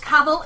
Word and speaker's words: Cavill: It's Cavill. It rhymes with travel.